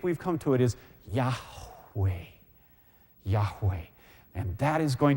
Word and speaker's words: Yahweh: How do you pronounce the name? Yud, He, Vav, He. And the answer is Yahweh. Yahweh.